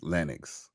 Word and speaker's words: Lennox: My Mr. O says it's pronounced Lennux.